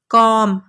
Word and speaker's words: comb: लिखे हुए हैं COMB, लेकिन हम इसे कॉम्ब नहीं पढ़ेंगे, कॉम पढ़ेंगे। बी साइलेंट है, यानी बी को हमने नहीं पढ़ना, हमने सिर्फ COM को पढ़ना है। बी की आवाज़ नहीं आनी चाहिए।